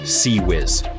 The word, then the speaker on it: CIWS: The ship's last line of defense is a special gun called the CIWS, pronounced Sea Whiz.